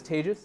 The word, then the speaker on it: Tejas: so my name is Teja that's pronounced like contagious fun fact I actually